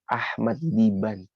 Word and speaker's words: Ahmad Diban: Syekh Ahmad Diban.